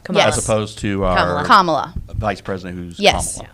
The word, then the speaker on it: Kamala: I'm not really going to say because I don't But want that to get name, for that version, it's pronounced Kamala, Yes. as opposed to our Kamala.